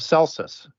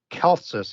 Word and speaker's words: Celsus: Greek Noble he wrote about Jesus you have celsus or kelsus if you want to pronounce the the C as hard it's spelled